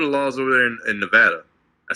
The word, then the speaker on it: Nevada: Like, what are the laws over there in Nevada? I said it right this time. Yes, Nevada.